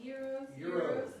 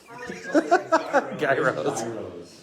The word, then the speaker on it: Gyros: It's YEE and then road, like Euro.